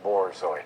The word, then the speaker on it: Borzoi: moment ago in mispronouncing Borzoi. It's not a war Marauder, it's a Y Marauder.